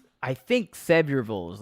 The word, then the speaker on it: Sevierville: How do you say Sevierville like a native, or even Knoxville, the city where UT is? So yeah, there's no vills in Tennessee. It's vull. I think so. Knoxville is Knoxville. I think Sevierville is like that.